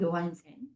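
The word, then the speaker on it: Johansen: 제이를 요라고 읽죠. 요한센. 저희는 조한센이라고 하겠지만 영어 발음에서는 하지만 이 덴마크 이제 유럽 요라고 읽는다라는 거 알아두시면 될 것 같고요.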